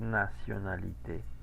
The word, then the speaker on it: nationalité: La E final con acento, me faltó indicar que es final, la E final con acento sí se pronuncia, ¿ok? Por eso es nationalité.